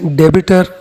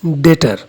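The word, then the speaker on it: debtor: some people read it debiter it is not debiter it's data b is silent here so it is read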